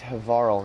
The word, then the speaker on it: Havarl: Oh, here it is. It's Havarl. Yeah, I've been saying it right.